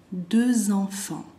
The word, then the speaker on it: deux enfants: Deux enfants, deux el número dos, va a ser deux en la pronunciación, bien redonda la boca. Deux enfants, ahí yo como lo escuchan hago z.